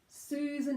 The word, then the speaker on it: Susan: Susan has oo, long vowel oo. Susan, and then short schwa, unstressed syllable second, n. So that would be written as like n.